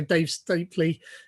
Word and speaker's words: Dave Stapley: And also Dave Stapley. Am I pronouncing that right, by the way?